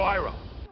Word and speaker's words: Iroh: And by the way, just a fun little tidbit, they do pronounce the names different from the show as well. My name is Ong. I'm Aang. Sokka. Sokka! My name is Iro. General Iroh.